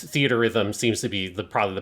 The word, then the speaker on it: Theatrhythm: So it's theaterism seems to be probably the best way to pronounce it. Okay, because the R is just shared between the two words, and that's what's confusing.